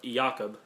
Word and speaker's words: Jacob: to my attention that it's uh somehow pronounced yakob because he's German he he lived in